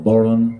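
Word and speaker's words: bodhrán: And accompanying Naomi on the whistle, I'm going to be playing the baron. Pronounced different ways across Ireland. Baron or boron is a common way.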